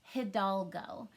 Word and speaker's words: Hidalgo: see a tricky word and this word is pronounced hidalgo it's very tricky because you can't really sound